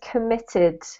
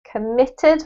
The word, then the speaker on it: committed: more perfect okay so this word here is committed committed with the emphasis on MIT okay committed yes that's